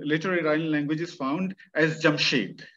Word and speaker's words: Jamshid: language is found as jamshed jamshid as iranians would pronounce it so jamshed is uh